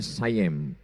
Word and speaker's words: Siam: Tulisannya Siam. Orang Barat membacanya sayem.